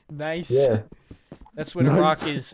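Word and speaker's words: gneiss: yeah dude i did look nice so smart it's spelled g n e i s s nice that's when a rock is is layered as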